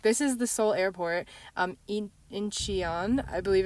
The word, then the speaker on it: Incheon: But look, this is the Seoul airport, Incheon, I believe it's pronounced.